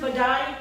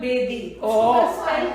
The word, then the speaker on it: Bedi: My son actually said, can Ruhan Badai come over for dinner? So who is Ruhan Badai? Rohan Bedi. Right. Badai, B-E-D-I. Oh my Badai.